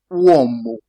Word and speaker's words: uomo: You have it in the word uomo. Uomo. U like in uomo. That is man in English. You think about root. Root in English to get that sound U. You have uomo.